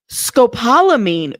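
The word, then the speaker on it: scopolamine: Pronounce. Let's see. Let's see. Scopalamine.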